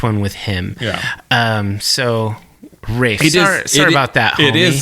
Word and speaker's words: Ralph: Well, I was watching online and and it seems like some people call it Ra say Rafe and some people say Ralph. I don't know. He says Rafe.